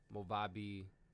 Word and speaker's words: Movavi: about movavi that's how i think i use pronounce it movabi editing or editing software so when it comes